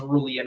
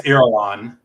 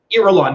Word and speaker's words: Irulan: When you first meet Princess Aurelian, I feel like I'm mispronouncing her name. I believe it's Irulan. Irulan, yes.